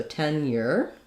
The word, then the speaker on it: tenure: So tenure. So in this case, it's more of a sound, tenure, tenure, because that syllable is unstressed.